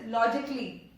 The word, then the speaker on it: logically: Next is logically, not logically. It is not logically. Let me tell you, अगर आप ऐसा बोलते भी हो logically या artistically, it won't be wrong. But the very correct pronunciation, if you go with the very correct one, this is the very correct one. Logically, artistically. Logically, artistically. You understand that the A here is silent in this.